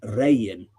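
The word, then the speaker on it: Regin: Uh, here it's spel it's spelled Rean but or Rean but it's pronounced Ran.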